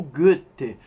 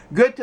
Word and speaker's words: Goethe: Oi, vamos começar falando um pouco do Goethe, autor do Fausto. O OE, ou O com trema, alemão, pronuncia-se Ö, som inexistente no português.